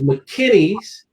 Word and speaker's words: McKinney's: the name right and view the spelling is mckinney's m c k i n n e y let me spell it again mckinney's m little c capital k